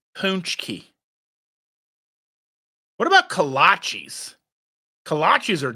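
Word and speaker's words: pączki: or cream and covered in powdered sugar rcing pronunciation punchki what about kachis kachis are delicious they're like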